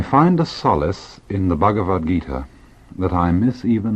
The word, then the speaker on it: Bhagavad Gita: or Bhagavad the Lord Gita Song, the Song of the Lord. It is spelled B-H-A-G-A-V-A-D, Bhagavad, Gita, G-I-T-A.